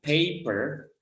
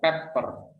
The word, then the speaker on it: pepper: Cuma memang nanti saya ingin tekankan bahwa di sini bacanya bukan paper ya, tapi bacanya pepper.